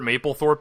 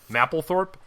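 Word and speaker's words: Mapplethorpe: okay so do you you know who Robert Maple Thorp is have you heard of that guy yes and you're saying his name wrong I am oh I'm sorry mle Thorp that's my understanding go ahead Robert so number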